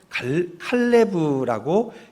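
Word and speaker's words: כָּלֵב: 이 히브리어 원어를 보면 칼레브라고 읽게 됩니다.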